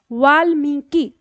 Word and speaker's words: वाल्मीकि: शब्द आता है हमारा वाल्मीकि शब्द है वाल मी की तीन टुकड़ों में इस तरह से तोड़ सकते हो वाल ल आधा है मी की उच्चारण सही रखेंगे तो आपकी वर्तनी सही आएगी तो वाल मी की